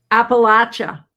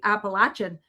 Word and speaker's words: Appalachia: And they said when I went to those regions, they said, "And if you don't pronounce it per properly, Appalachin, they'll throw an apple at you."